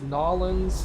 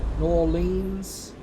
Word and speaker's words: New Orleans: I've heard it many different... I've heard different people demand that it was pronounced different ways. As long as you don't pronounce it New Orleans, you're fine. Don't pronounce it the way it French. looks. Like French, New Orleans. Yeah, not like that. So either I'll just probably keep calling it Nolans.